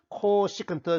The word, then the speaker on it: 코시컨트: 어떻게 표기하든 읽을 때는 코시컨트 시타라고 읽어야 합니다.